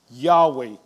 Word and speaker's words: Yahweh: In the Hebrew, those are the letters YHWH. And we believe it is pronounced Yahweh.